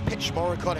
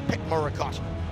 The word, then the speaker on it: Petchmorakot: The CH is silent, by the way. That's why it's not Petchmorakot, it's Petchmorakot Petchyindee Academy.